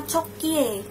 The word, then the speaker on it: Cokie: Ya, Cokie ini dibacanya sebenarnya Coki. Cuma untuk membedakan dengan Coki yang satunya, jadi aku sebut yang ini Cokie, gitu ya.